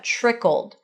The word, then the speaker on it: trickled: So the tr at the beginning or pronounced as a ch trickled trickled trickled and then trickled on down into some tragic another trion tragic casual corner.